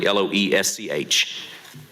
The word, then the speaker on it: Loesch: If I'm pronouncing that correctly, Loesch.